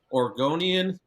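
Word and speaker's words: Oregonian: Aaron Fentress of the Orgonian. And I kept saying Oregon compared to Organ. Apparently, that's how you say it, Oregon.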